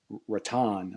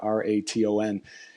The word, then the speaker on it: Raton: in a town called Raton, I think is how you pronounce it, Raton, two Hmm.